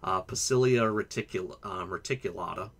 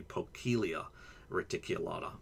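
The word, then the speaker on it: Poecilia reticulata: was alive years ago, Pacilia reticulata, actually C's in Latin are all hard, so I guess it would be Pocilia reticulata, but who knows how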